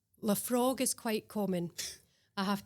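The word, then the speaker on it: Laphroaig: And what's the correct pronunciation? Okay, so this is Leafroy. Leafroy.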